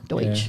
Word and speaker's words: Deutsch: Pennsylvania Dutch, though Dutch is German. Deutsch. Yeah, they're not Dutch, they are German. It's a mispronunciation on American parts.